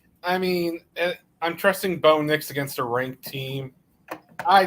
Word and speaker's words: Bo Nix: And even though Bo Nix rhymes with kicks, a bland ass cereal.